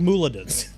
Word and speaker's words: Muladins: They're called Muladins. It's like paladin.